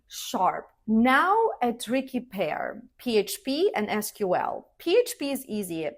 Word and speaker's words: PHP: Now a tricky pair, PHP and SQL. PHP is easy. Just say each letter, PHP. It's just like saying FBI or USA.